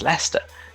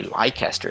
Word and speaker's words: Leicester: then the topic shifts most people don't know where leicester is because they don't know it's lester they'll have seen it written as leicester so they might know lycaster if they saw it written down but when they hear lester it means nothing to them that's just the way